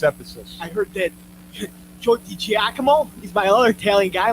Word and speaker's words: DiGiacomo: I heard that Joe DiGiacomo, he's my other Italian guy, my He's good buddy.